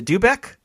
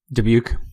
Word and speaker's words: Dubuque: I'm gonna say it wrong Nicole is a dubeck Dubuque sorry Nicole I'm gonna keep this joke going